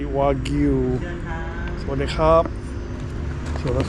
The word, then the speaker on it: Wagyu: Well, I gotta say it correctly, Wagyu.